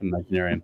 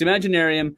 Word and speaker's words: Imaginaerum: I don't know how the fuck you pronounce that thing. It's just like whatever. Imaginarium. Yep. Imaginarium.